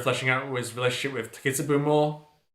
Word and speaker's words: Takitsubo: Yeah, we also get Amazura fleshing out his relationship with Takitsubu more. Did I pronounce it right this time? Takitsubu? Yes. Not Takitsubo.